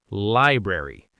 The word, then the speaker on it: library: Now for word number 3, Eve's nemesis, library. Library. Normal speed, library. Your turn. Okay, I have to consciously say that first R.